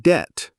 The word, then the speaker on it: debt: English has a lot of letters that don't say anything like the K in knee or the B in debt. You say ni not ki and debt not debted.